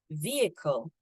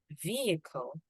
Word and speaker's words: vehicle: we actually do it the age is slightly silent so we don't say fee High we also don't say I it's actually e so vehicle vehicle instead of beehive it's vehicles with s